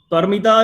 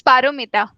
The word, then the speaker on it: Paramita: the problem anyone so perita you already got by the way am I pronouncing your name correct am I pronouncing your name correctly it's paramita paramita okay so parita you